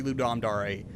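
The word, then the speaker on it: Ludum Dare: not that is well no it's actually Lube domdare anyone watching this on my channel if you think otherwise you're wrong okay just go with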